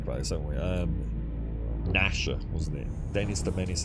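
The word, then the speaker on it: Gnasher: Is it called Nasher? I think it was spelled with a G though, wasn't it? G N A S H E R.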